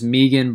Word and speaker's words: Megan: Megan Anderson I'm well aware that the Australian pronunciation is Meegan but I'm American so I'm gonna say Megan the UFC does not